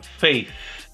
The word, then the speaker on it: faith: a pronúncia dessa palavra coloca a língua no dente de cima e sopra Faith Faith they say that